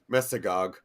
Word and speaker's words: Mesogog: Anton Mercer making special appearance as Albert as a Masog. I guess I'm not sure as that's you pronounce it. Dino Thunder. Mesogog. Like Mesozoic era.